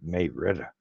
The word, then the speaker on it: Marietta: Look at a town called Marietta, but if you go there and say it that way, they're gonna look at you funny because they call it Marietta.